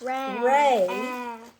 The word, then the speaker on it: re: Ray, and I know it's spelled R-E, but it's pronounced Ray because music is written not in English.